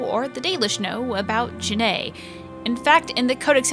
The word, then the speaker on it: June: Since the dawn of the series, people have pronounced this name as June.